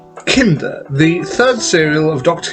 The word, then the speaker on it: Kinda: story, The Visitation, that I wasn't entirely sure whether this was supposed to be pronounced Kinder or Kinder, but I mean, worse to the story, it's Kinder.